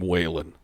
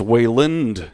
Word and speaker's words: Wayland: mitch just looked at me right when i said that because everyone pronounces my name waylon but i'm not i was going with smithers that too but it's wayland here way later it's